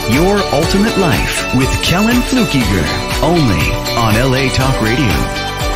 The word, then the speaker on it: Fluckiger: he says my name right every time Kellen flukiger it's so funny I've lived my whole life